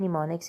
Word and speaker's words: mnemonics: term use होती है निमोनिक्स यूज होती है एम इसमें साइलेंट होता है निमोनिक इसको पढ़ते हैं तोय ग्रीक वर्ड